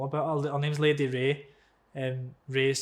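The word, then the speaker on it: Wray: Her name's Lady Ray. Ray is spelled W-R-A-Y.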